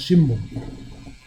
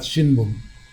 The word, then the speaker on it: shimbun: It is actually spelled as shi, that's one syllable, M, bu, M. But it's pronounced shimbun, not shinbun.